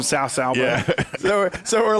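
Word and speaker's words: Cao Cao: To be fair, Dynasty Warriors pronounced one dude's name as Cow Cow. That's not how you pronounce his name. Ironically, starting 6, I did always pronounce him Sao Sao.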